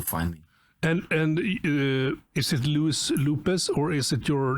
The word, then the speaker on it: Luis: first name is that if I say Louis, which is the correct pronunciation, right? Sort of. Sort of. Okay. It's like Luis. Yes, without the very like so. I'm gonna say it. So it's Luis. Do it. So it's just Luis. Yes.